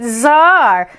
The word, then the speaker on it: czar: like you every day c is for czar that's right zar shh the fascinating czar is secretly part check check check my chick chick that's right c and z could be zar or c and z could be check that's right the rule is there are no rules crazy d is for